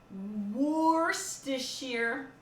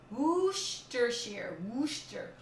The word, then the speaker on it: Worcestershire: Cream and Dijon and Worcestershire.